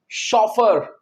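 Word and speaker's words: chauffeur: Number five है students शॉफ। आपने शॉफ के स्पेलिंग लिखने हैं।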